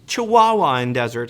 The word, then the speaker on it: Chihuahuan Desert: It's actually pronounced Chihuahuan Desert.